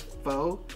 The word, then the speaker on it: faux: I believe it's pronounced faux. Oh, look at you. Okay. It's faux. It's not fox.